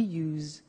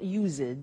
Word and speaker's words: used: don't have now we use used to look at the spelling s it's it's u s e d and then t o but the pronunciation is not usid it's us unusual used okay so the example